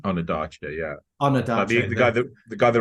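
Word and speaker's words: Ondaatje: merch and Michael on is that how you pronounce his name onad yeah onad the guy the guy that wrote the English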